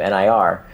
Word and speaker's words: Nir: When I say the name of my blog is Near and Far, and Near is spelled like my first name, Nir.